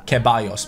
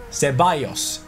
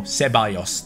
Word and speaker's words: Ceballos: Ceballos. The double L is like a Y, and the C is like a S. So Ceballos.